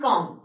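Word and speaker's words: calm: are they can be dead bomb subtle and कॉम so when I एम pronounce these of the words dead I एम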